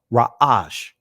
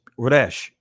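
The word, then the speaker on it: ריש: In ancient Hebrew, it's pronounced Ra'ash. Right. In the Israeli language is Resh. Right.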